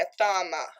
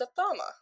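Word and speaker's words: athame: Its magical tool is the wand, sometimes sword, dagger, or a thama. I don't know what an athama is. Let's look that up right now. A-T-H-A-M-E, athama.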